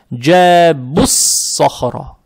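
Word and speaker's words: جَابُوا الصَّخْرَ: Теперь при переходе сюда, я имею, когда переходим сюда, вот обратите внимание, вау не читаем, этот алиф тоже не читаем, этот алиф тоже не читаем, и лям тоже не читаем. Получается, джабуссахра.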